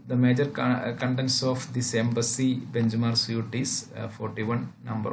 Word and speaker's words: EEMBC: which is called the embassy embc this one eembc which is pronounced as embassy which is an example